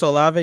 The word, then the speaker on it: Olave: Chris Olave, yeah.